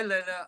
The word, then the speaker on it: Lena: Hi Lena. I don't know if I pronounced your name right. You did perfectly.